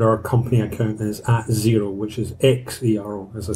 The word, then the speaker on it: Xero: Turner, and our company account is at Xero, which is X-E-R-O, as I said at the beginning. Great idea, really cool name, come up with a brand that's not phonetically spelled as it sounds, but when you put